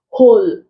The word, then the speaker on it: whole: it in this one's whole W is silent when w is pronounced